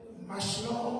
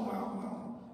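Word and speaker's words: Mahlon: Souligne aussi les noms de, selon comment vous prononcez, Machlon, Maclon, Machlon, comme vous prononcez.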